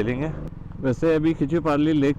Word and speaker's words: Khecheopalri: अच्छा खिचियोपारी लेक है, मैं उसको गलत प्रनाउंस कर रहा था।